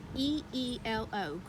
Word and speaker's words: Grillo: I think it's actually Grillo. I saw the pronunciation, and it's Greelo.